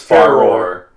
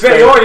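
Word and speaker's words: Farore: wasn't fair i know how do you pronounce it it's far roar yeah oh i know what it is now but back then it was fair yeah foreign how do you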